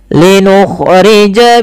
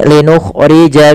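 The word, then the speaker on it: لِنُخْرِجَ: Linukhrija bihi habban wa nabata. Kita lihat linukhrija, hati-hati dalam kha, jangan sampai mantap. Linukhrija jangan, tapi kha dan jangan terlalu kasar.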